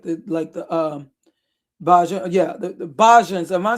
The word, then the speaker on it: Bajans: Where Bahans, or, like the people from, I may be mispronouncing it, but I know he's referring to the people from the let me just like the Bajan, the Bajans.